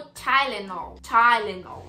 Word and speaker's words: Tylenol: sabendo que não era de lennon anunciou como tai lennon isso aí de tila não é chileno concorrente